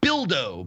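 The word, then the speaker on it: Bildo: every rhymes with yeah rhymes with dildo which is unfortunate so it's a platformer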